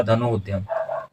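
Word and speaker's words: धनुरुद्यम: और इस तरह से धनु और उद्धंग उच्चारण नहीं होगा उच्चारण होगा धनु उद्यम और इस तरह से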